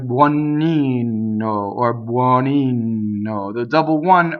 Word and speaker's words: buonino: Now, when you say buono, the stress is on the O, and that O is open. But when you say buonino, it is an unstressed O, so it is closed.